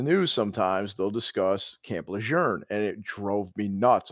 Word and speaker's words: Lejeune: So apparently, the correct pronunciation is Lejeune.